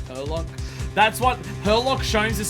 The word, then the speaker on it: Herlock: I believe you'll find it's pronounced Herlock.